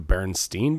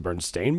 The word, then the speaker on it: Berenstain: can't remember you know it's as Berenstain but when I grew up we call it we pronounce it Bernstein and so like as